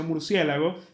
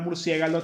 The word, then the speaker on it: murciélago: ejemplo, porque ya hay tanta gente que mal pronuncia murciélago que al final se rindieron y dijeron, "Bueno, será aceptar Murciégalo también como algo que está dentro del español oficial."